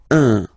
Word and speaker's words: un: without any doubt, but you've got to pronounce it like un. So it's what we call the nasal, so it goes in your nose, okay? Un. So if you listen to me, you don't hear any N, okay?